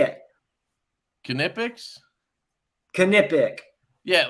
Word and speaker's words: Knipex: Does it say the pronounce Knipex? Knipex.